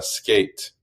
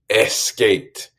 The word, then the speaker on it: skate: a la pronunciación es cuando una palabra en inglés empieza con S, muchos de mis estudiantes quieren colocar en su mente, en su pronunciación, una E enfrente de SS. Entonces, si nos pongamos a pensar en la palabra skate, obviamente ustedes saben, pero siempre quieren decir skate.